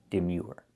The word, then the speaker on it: demure: And the last word is demure. The sound is your demure.